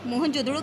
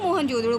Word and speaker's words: मोहनजोदड़ो: और मोहनजोदड़ो को हम लोग मोहनजोदड़ो बोलते हैं, लेकिन इसका असली जो उच्चारण है ये है मोहन जो दड़ो। ये इसका मेन उच्चारण ये होता है, हम इसे मोहनजोदड़ो इंग्लिश में बोल देते हैं।